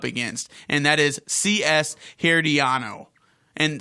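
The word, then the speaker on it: Herediano: B sports club here at Ianno so it's pronounced here D ah no here diono is alright did they get there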